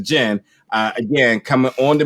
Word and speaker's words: Djinn: out the uh the gin the d is silent so not the die jam but the gin uh again coming on